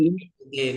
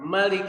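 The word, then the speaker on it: مالك: Panjang atau pendek biasanya kita baca? Panjang. Panjang ya, Panjang. Malik. Nah, ada di qiraat lain dibacanya pendek, Pak. Malik Yaumiddin.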